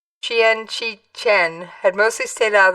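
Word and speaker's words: Qian Qichen: a cause Mr Kean whose full name is roughly pronounced Chen Chien had mostly stayed out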